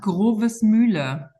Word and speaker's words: Grovesmühle: So Andrea, can you pronounce correctly the name of your school, first of all? Absolutely. It's Schule und Internat Grovesmühle.